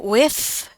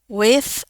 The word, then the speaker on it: with: Eh, ini sama dais ini boleh with ya, tapi boleh juga ini pakai the. With atau with ya. Eh, untuk American kayaknya lebih gampang pakai the ya.